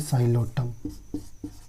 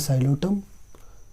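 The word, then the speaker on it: Psilotum: अंदर आ जाता है साइलोटम, ये पी साइलेंट होता है इसमें, ठीक है।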